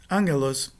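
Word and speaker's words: ἄγγελος: Então, antes de uma gutural, a nasal, que é o primeiro gama, será uma nasal gutural.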